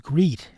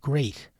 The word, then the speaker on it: great: In great, the A in EA supposedly makes the E long, but then we'd have to pronounce it as greet. instead of great.